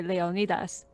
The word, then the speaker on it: Leonidas: anyway so yeah um leonides would be the attic ending es like uh alcibiades whereas the doric version of that would be alcubiad right so i'm not too far off if i say they all need us i mean it's perfect so oh okay and